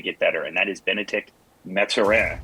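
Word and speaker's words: Bennedict Mathurin: better and that is benedict metzera i believe that is the actual correct pronunciation i did not take three years of french in college to waste it when i finally got to my career so i'm going to go with benedict and that's iran uh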